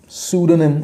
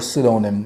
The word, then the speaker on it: pseudonym: 97, pseudonym, pseudonym और pseudonym दोनों ही pronunciation है, pseudonym और pseudonym।